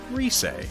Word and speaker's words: Rise: character christmas gift confirmed her name is pronounced reese i'm gonna mess this